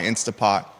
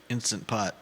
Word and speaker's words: Instant Pot: who watching the program says I love my insta poot Juda and I use it once a week